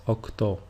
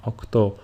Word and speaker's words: οκτώ: Some people speak faster than others, and since it is easier to pronounce επτά and οκτώ with a phi and a chi sound respectively, speakers started to adopt